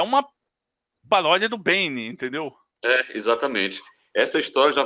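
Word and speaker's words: Beine: E o nome era Bane, só que escrito B-E-I-N-E, né, como se pronuncia, né, desse personagem, com a paródia do Bane.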